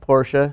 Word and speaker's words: Porsche: do it it is it is pronounced Porsche it's two syllables um but uh it